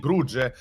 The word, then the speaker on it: Bruges: with that being said as you said it's bruges it's actually your pronunciation was actually on point i'm i'm kind of